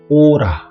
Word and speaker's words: hora: 오라는 ORA가 아니고 HORA입니다. 그래서 H가 제일 앞에 오면, 다시 말씀을 드리면 발음이 되지를 않습니다. 무겁습니다.